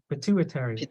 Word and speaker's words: pituitary: go back p203 gland so the the emphasis is Purdue pituitary yes yeah pituitary gland okay it's